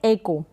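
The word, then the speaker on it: echo: फिर ये है एको, क्या है, एको, तो इसका प्रोनाउंसिएशन एको है, यहाँ पर आप देख सकते हैं हिंदी में लिखा है एको, क्या बन रहा है, एको, एकऊ करके जैसे ये लिखा है एकऊ, इस तरीके से आप पढ़ दें, नहीं, एको।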